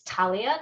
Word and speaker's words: Thalia: So my name is Thalia. That's a silent H there.